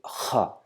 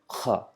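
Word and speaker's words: خاء: to stress the sound Kha with Kha, Kha, Kha, Kha, Kha, Kha. So it's not just simple Kha, it's Kha, Kha. Try to produce the sound from the lowest end of the throat.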